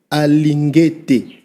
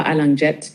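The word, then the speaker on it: Alingete: Ce n'est pas Jet mais c'est Jules Alingeté. Tu peux faire ça ? Ah absolument Marius, tu as raison. C'est bien Jules Alangeté, pas Allang Jet ni Arl Jet comme certains le prononcent mal.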